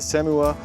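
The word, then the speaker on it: SEHMUA: Um, it doesn't say the name on the box on the front, but it's the SEMU, and that's spelled S E H M UA.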